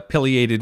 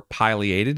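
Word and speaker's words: pileated: Here's a piated woodpecker or piliated if you prefer that pronunciation.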